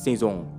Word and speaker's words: Saison: Season được đọc là Saison theo tiếng Pháp, có nghĩa là mùa.